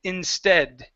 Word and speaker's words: instead: and our last one is a vowel sound here instead of in STAAD it's a step stead instead instead good one more time